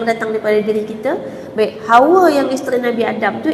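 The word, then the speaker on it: حواء: isteri Nabi Adam tu ejaan dia ha ha pedas ha tu bukan Ha bulat tadi ha ha Jim Ha Tu kan ha tu Ha wau Alif hamzah Jadi bacaan sebenarnya Hawa dia bukan Hawa dia hawa hawa dengan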